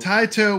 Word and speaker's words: Taito: not sway the vote taito would be the correct Japanese pronunciation so I think it's time the poll is closed it's time to blow up area 51.